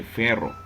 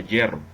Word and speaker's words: hierro: qué se pronuncia hierro no se lee ferro se le dice fierro pero se pronuncia hierro de donde vino su